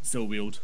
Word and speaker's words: Silweald: Yeah, he usually roaming the woods of Silweald. Is that how you say it? Silweald? Yep.